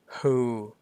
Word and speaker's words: who: ได้ เนาะ ถัด ไป Who ตัว W ไม่ ออก เสียง นะ ใน ที่ นี้ Who